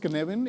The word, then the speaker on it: Cynefin: It's pronounced Cynefin.